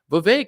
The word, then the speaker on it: Vivek: Vivek, it rhymes with cake and snake and, all these other things.